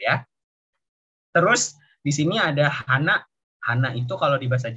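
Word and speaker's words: 花: Terus di sini ada hana.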